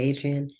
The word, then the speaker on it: adrienne: Adrian yeah yes yeah I'll accept a French pronunciation if people have French in their systems and I'll accept I'll accept almost any pronunciation if it's like that's the nature of the tongue but yeah I say Adrian yeah yeah you've been